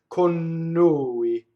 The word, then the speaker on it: con noi: So it's pronounced like it's one word. Con noi, right?